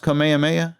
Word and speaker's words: Kamehameha: do the uh commandments who is it it's pronounced kamehameha yeah commandment that's so weird because when he does it he it sounds like he's saying kamihami ha i think it's like commenting yeah that's what